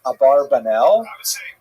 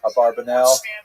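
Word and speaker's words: Abravanel: A barbanella ba a barbanell. You heard it. Um and um but the probably correct I'm following Netanyahu here. Probably correct is Abraanel. That's probably how he pronounced it more or less with my Canadian accent.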